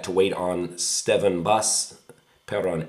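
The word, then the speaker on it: перон: It looks like P-E or N-E-P-O-H, but it's P-E-R-O-N, peron, peron.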